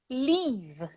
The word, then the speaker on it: leave: Então você vai falar leave. Longo. Leave. Não. Leave. Não é imagina que no fim dessa palavra tem leave. Isso aqui é um que você não pronuncia. É um que você faz assim, leave. Entendeu?